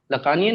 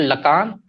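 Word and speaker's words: Lacan: लकानियन नहीं किए जाते, पर फ्रॉइडियन किए जाते हैं। इट्स नॉट लकान, दूसरा प्रोनाउंसिएशन है, पर मैं देसी आदमी हूँ, देहाती हूँ, मैं लकान ही बोलूंगा।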